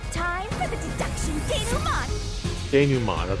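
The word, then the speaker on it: dénouement: denouement, that's how you say it.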